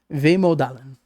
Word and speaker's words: vemodalen: Pronounced Vemodalen.